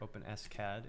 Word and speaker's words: OpenSCAD: 3d model in fact i have openscad here openscad is the correct way to say it and